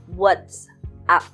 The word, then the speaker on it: WhatsApp: So, the correct pronunciation is WhatsApp.